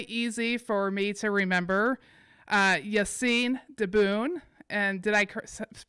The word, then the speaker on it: Yassine Diboun: Yassine Diboun. And did I pronounce that correctly?